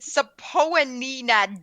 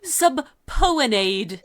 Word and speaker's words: subpoena: I'm looking at that and my brain wants to pronounce it Sapoanina. Yeah, like, no. whatever. It's definitely subpoenade. Yeah, like I just know it's I know it's subpoena.